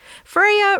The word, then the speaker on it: Freyja: Her name is Freya, which is spelled F R E Y J A. Friia really doesn't like it when people say or spell her name wrong, but she is a bit too shy to correct them. On the first day of school, teachers sometimes say Frey Ja. And Freya feels too embarrassed to say anything, so the teachers keep saying her name wrong till someone else finally corrects them.